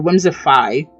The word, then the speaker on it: Whimsifay: Whimsifay. Or Whimsify. That's how it's pronounced, but it's spelled Whimsifay.